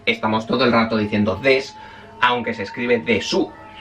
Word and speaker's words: desu: desu en ningún momento, he dicho todo el rato des porque aunque se escribe de su normalmente en japonés las palabras que terminan en su prácticamente todas no se pronuncia la u final.